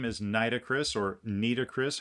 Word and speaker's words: Nitocris: her historical name is nitocris or nris however you want to pronounce that niit o c i i pronounce it nitocris and uh she was